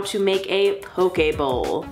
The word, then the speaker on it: poke bowl: how to make a poke a bowl I think that's how you say it poke a bowl it's not pokeball it can't be pokeball pokeballs have been all